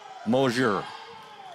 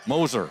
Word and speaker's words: Moser: Matty Lynn and with moer Moser I'm sorry Moser she she corrected me T I wish she would have done it earlier in the year she said scoop this is a pronunciation of my name so interviewed all three